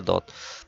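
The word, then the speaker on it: ض: নুক্তা না থাকলে সদ, নুক্তা থাকলে দদ। ত য ত এর উচ্চারণ মোটা করে ত আর য এটা যেহেবার আগা দাঁত সামনের উপরে দুই দাতের আগার সাথে লাগিয়ে উচ্চারণ করতে হবে।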